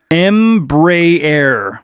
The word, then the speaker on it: Embraer: their life and lastly it's pronounced Embry error oh Embraer that's uh because you